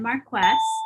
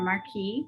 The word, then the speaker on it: marquess: be duke and then marquess or marquis depending on how you want to pronounce it then comes the earls